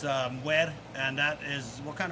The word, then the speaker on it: mwarmwar: But I thought it was mwarmwar, but you kind of schooled me on that. That's not how it's said. No, it's pronounced mwer.